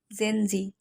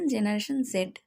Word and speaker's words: Gen Z: গেঞ্জি না এটা হলো জেনজি অথবা বলতে পারেন জেনারেশন জেড ইংরেজিতে জেড বা জি দুইটা প্রোনাউন্সিয়েশনই কারেক্ট এখন আসেন জেনারেশন জেড